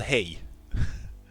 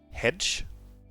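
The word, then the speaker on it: Hej: It's called Hey. I've seen some people, English-speaking people, try to pronounce this word as hedge, but no, it's hey. It's the Swedish word for hi.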